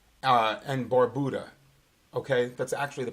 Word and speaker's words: Barbuda: it went over the island of Antigua and Barbuda okay that's actually the pronunciation of those two islands I've been down